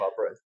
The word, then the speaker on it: Arbroath: Can I sidestep and ask you then about the Declaration of Arbroath? Have I pronounced that right? You have to. That's right. Yeah, no, it's called the Declaration of Arbroath.